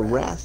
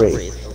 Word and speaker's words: Wraith: It was a Wrath and a Bloodhound. Wraith. It's pronounced Wraith. A Wrath? Wraith. Wrath. No! It's a Wraith!